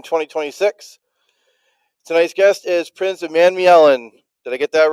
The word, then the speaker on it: Umanmielen: People pronounce the A in there differently. Some people say Umanmielen, some people say Umanmielen.